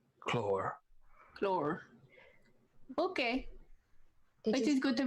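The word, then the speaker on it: Claud: Clore. Claw. The D is silent. Clore.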